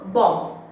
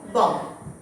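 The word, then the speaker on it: bomb: না, MB থাকলে লাস্টের বিটা সাইলেন্ট হয়, এটাকে আমরা বলবো বম, বম। আমার সাথে বলো, বম।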